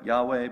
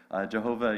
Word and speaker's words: Yahweh: vowels you know because in hebrew they didn't give vowels and so we had to guess for a while and we think we've